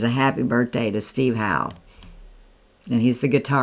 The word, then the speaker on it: Howe: And I believe it's pronounced how. Um, I know the face, but I don't I don't names get me because some places pronounce it hoe and some how, but I believe it's Steve How.